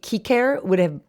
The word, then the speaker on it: Cicer: It would be cicer is how it would have been pronounced in like properly in Latin. The C's in Latin were hard.